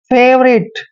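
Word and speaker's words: favourite: हैं और यहां पर वी के बाद जब भी ओ यू आता है यहां पर ओ यू हमेशा साइलेंट रहते हैं और आर का उच्चारण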